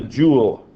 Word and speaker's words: joule: new one called the joule. A joule of work rhymes with pool.